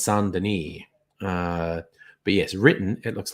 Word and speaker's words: Saint Denis: So it's pronounced the French way. So it's Saint Denis.